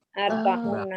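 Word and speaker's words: أربعون: Arba'una. Kalau una bacanya apa tuh? Kalau una. Arba'una, boleh arba'una atau arba'ina, tergantung kondisinya.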